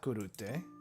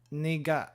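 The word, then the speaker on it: 苦: So this, if I were to read this without knowing the pronunciation, I think this would be kurute, but it's not kurute. It is niga.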